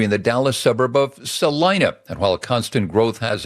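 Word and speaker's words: Celina: Zillow, you go to Salina, Texas, spelled with a C, not an S. You plop in Salena, Texas, little north of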